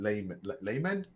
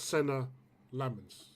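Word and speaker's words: Senne Lammens: Actually, I even think for you, man, until you sign Lay Layman. Is that what's his name? Lemon. Lemon. Yeah. Lemon. Lemon. Lemons. Lemon. His name is pronounced Senna Lemons.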